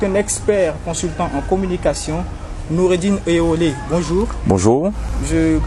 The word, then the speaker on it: Nuridine Oyewole: Notre interlocuteur du jour est un expert consultant en communication, Noureddine Eolé. Bonjour. Bonjour. Je prononce bien le nom, c'est ça?